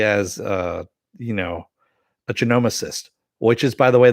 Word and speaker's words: genomicist: to know especially as uh you know a genomicist which is by the way the how you pronounce that not the way yvonne pronounced it